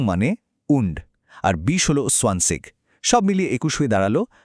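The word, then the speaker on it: zwanzig: 20 হলো সোয়ানসিগ, 30 হলো ড্রাইসিগ, 40 ফিয়াটসিগ, আর এভাবেই একদম 90 বা নয়নসিগ পর্যন্ত গঠিত হয়েছে।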